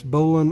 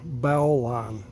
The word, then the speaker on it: bowline: first I think that you can pronounce this billon or bow line you know just pin